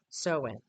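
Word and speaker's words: Samhain: Halloween's roots trace back over 2,000 years to the ancient Celtic festival of Sam Hayne, which is pronounced sewing.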